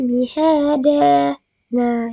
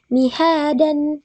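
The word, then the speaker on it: مِهَادًا: Alam naj'alil arda mihada. Nah, jadi yang akan salah jika kita membacanya dengan mihadan, tapi mihada.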